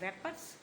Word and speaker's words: wrappers: रैपर्स, Wrappers. रैपर्स। तो okay, आपने circle भी उसी को किया हुआ है। इसमें मुझे बताइए कि साइलेंट क्या है? W. डब्ल्यू साइलेंट है इसमें।